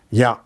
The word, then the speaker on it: Ja: Pronunciation of J is Ya. Ya. For Ya itself is a word example. Ya means S. Very often used word in German. Ja.